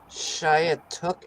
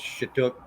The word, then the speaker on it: Skiatook: Shiatook area? Where is Shiatook? It's Chatook is how you say it.